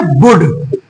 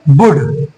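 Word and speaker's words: would: ये शब्द है तो इसको बोल्ड नहीं पढ़ेंगे इसको पढ़ेंगे बुड यहां पढ़ेंगे शुद्ध बुड डब्लू य एल ट को हम लोग पढ़ेंगे वुड क्या पढ़ेंगे वुड सी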